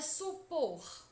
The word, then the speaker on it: supor: Percebam que a sílaba que mais demora a ser pronunciada é por. Portanto, por é a sílaba tônica.